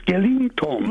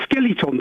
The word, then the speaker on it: skeleton: Skellington. I'm not because that's not how you spell it. People say onion or chimley or h. It's skeleton.